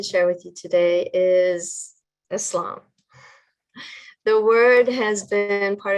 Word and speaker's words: Islam: someone who believes in islam again islam it's like bliss that first part of